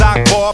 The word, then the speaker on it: Akbar: It goes A to the K, be the A, the R. My name is Akbar, but some say bizarre.